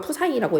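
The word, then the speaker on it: psi: 파이가 합니다 사실은요 기호는요 파이랑은 조금 다르고요 프사이라고 읽어요 이렇게 쓰시면 돼요 이렇게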